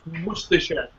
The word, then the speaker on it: Worcestershire: It's not, you guys pronounce it wrong. It's Worcestershire.